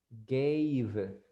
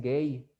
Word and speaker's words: gave: Si miran una V, pronuncien la V. Gave, porque muchos dicen gay. Gay, y gay tiene otro significado, ustedes ya lo saben, entonces no va a encajar ahí, ¿verdad? En lo que van a estar diciendo. Entonces, gave, gave, gave. Pronuncien la V correctamente.